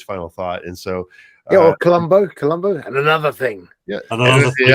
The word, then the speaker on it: Columbo: Oh, yes, it Carlumbo. Carlumbo. The English pronunciation, all right. The proper English pronunciation, Columbo.